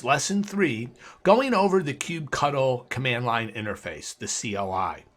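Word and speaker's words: kubectl: rest of the class I'm going to pronounce this command KUB CTL as cube cuddle you'll find there's a very high percentage of people that also refer to it as cube control my preference is Cube cuddle you can make your own determination on how you want to pronounce it so first of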